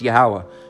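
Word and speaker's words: Yahweh: it's going off man don't shorten the name of the Lord all right just say it's yahwah all right it's two more syllables that's it all right yeah all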